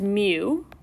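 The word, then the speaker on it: μ: Both of these symbols here, the first one we pronounce X bar, and the second one is mu.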